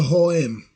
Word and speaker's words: H&M: And they'll be like, why are you pronouncing it that way? And you're like, because it's Swedish. It's a Swedish brand.